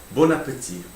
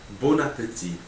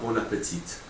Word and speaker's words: bon appétit: Bon appétit. Bon appétit. You don't pronounce the last T in bon appétit. It's not bon appetit.